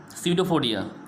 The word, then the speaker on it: pseudopodia: Student, as you can see the spelling of the pseudo, P is silent, Pseudopodia, pseudopodia, which means pseudo means